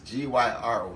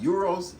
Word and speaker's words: gyro: So in Europe they call it euros. In other parts of the world we call it a gyro. All right, same thing, just spellings the same, it's just pronounced different.